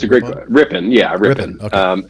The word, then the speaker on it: Ripon: Am I pronouncing that right? It's a great Ripon. Yeah, Ripon.